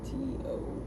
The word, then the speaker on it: Quito: Keto, spelled with a Q, not with a K. Quito.